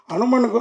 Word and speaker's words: HanuMan: hanuman நான் ஏன் கேக்குறேன்னா அனுமனுக்கு வந்து பெண் பக்தர்கள் உண்டு பெண் காதலிகள் கிடையாது ஆனா நீங்க படத்துல லவ் இருக்குன்னு சொன்னீங்க சார் நான் அனுமான் இல்ல சார் நான் அனுமேன் அதான் அது வரேன் வரேன்